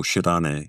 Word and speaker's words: Shirane: The scholar, I'm not sure how to pronounce this, Haru Shirane? Oh, Shirane, yeah.